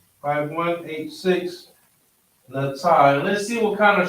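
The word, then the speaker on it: נטה: Natah.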